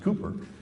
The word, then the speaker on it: Cowper: We're here in England where the poet, it's spelled Cowper, but it's actually pronounced Cooper, said he works in mysterious ways his wonders to perform.